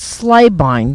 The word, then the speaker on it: Slabine: I'm here now with the director of Nick and Nicky, Marcus Slabine. Did I pronounce that right?